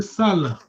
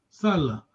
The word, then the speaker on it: sala: So your tone, the way you pronounce gives the meaning to the word.